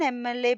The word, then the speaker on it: MLA: an MLA because we are pronouncing M which is a vowel sound.